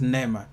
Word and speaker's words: Neema: nema no name nema so i'm right it's nema so what is nema the name is from